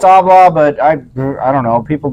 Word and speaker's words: Habla: I know it's Habla, but I don't know. People don't really. I don't know if people. Understand. H is silent in Spanish.